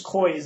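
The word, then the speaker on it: Coie: this legal Corporation you Perkins Koy is the name of it Perkins koyi is spelled c i e you can look it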